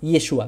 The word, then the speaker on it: Yeshua: que hay o es y es Joshua como Josué o yeshua vimos determinamos que muy seguramente es yeshua no y es Joshua entonces todo eso descartado